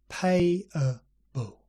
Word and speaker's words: payable: payable liable viable and these last three are interesting they have a diphthong which is two vowels in one syllable followed by a schwa yeah slowly pay a bull lie a bow